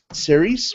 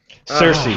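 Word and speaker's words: Saoirse: 45 years and uh how do you say series Ronin Cersei do cers Cersei Cersei okay yeah or something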